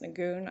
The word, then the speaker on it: Nguyen: told it was pronounced nagoon i don't know nguyen yes that case i'm going to say win that's all right um